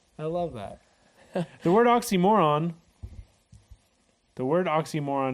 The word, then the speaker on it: Ye: you see signs like Ye Old shop is pronounced the old shop not Ye Old shop what wow oh that's